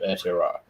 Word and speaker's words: Aotearoa: But how I have had it described to me is Aotearoa. So that will be Aotearoa.